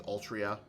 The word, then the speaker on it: Altria: It still throws me off how they pronounce her name as Altria.